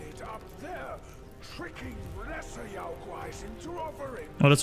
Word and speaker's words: Yaoguais: Except to enshrine it up there, tricking lesser Yaoguais into offering. Oh, that's how you pronounce it.